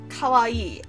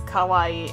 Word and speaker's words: kawaii: really great Sun makes nobody says kawaii it's always Kauai and it sounds exactly like Kauai which is being scary